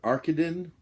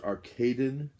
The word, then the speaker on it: Arkadin: The movie, and the pronunciation on this varies depending on who you talk to. It's Orson Welles, and it's the complete Mr. Arkadin, or Mr. Arkadin, also known as Confidential